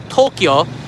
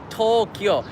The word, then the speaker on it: Tokyo: that we know today tokyo two syllables not three by the way all right tokyo i used to do